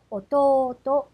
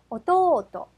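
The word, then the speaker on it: 弟: 야스미라고 읽고요. 악센트 표시는 야스미, 야스미가 됩니다. 자, 계속해서 어미에서 내려갑니다. 남동생이라고 하는 단어요. 오또또, 그러면 악센트 표시는요. 오또또, 오또또가 됩니다.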